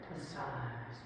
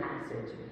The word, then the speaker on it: passage: Then you when you pronounce it in French, passage, it's much more interesting than passage, isn't it?